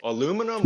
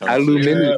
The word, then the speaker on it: aluminium: Aluminum? Wait, what are you talking about again? Aluminum, bro. Aluminum. B1 no, it's pronounced aluminium.